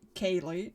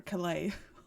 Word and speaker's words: Kaye: And here we have Kaye, who I've been mispronouncing all this time. I I called her Clay all this time.